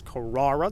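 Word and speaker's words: Carrara: car or white metallic the most mispronounced a portion names it's kirara there's no ease in there and of course we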